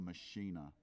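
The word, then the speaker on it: Maschine: it first came out, or Machina, It's the Euro. Yeah. Well, that's how they say it. Machina. And I suppose they made it, so we should say it the same.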